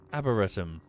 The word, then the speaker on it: arboretum: Arboretum. Arboretum? How do you pronounce that? Up to where they grow... yeah, oxygen is generated by plants. Arbor like harbour.